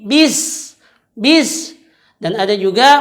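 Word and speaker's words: بسم: yaitu bacaan Bismillahirrohmanirrohim nah disini kebiasaan kesalahan orang membacanya yang pertama itu ada di bis ia membaca bis tidak dengan menarik mulutnya maka bacaannya tadi miring ke huruf e dia membaca seperti ini best base tapi bis-bis dan ada juga membacanya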